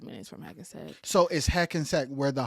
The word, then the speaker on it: Hackensack: Hackensack. Yes, Hackensack. And it's spelled how it sounds.